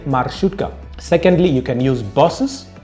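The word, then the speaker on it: маршрутка: use my shoot gun you have to put the emphasis on the letter r because in russia r is pronounced you know you have to roll your tongue i had to practice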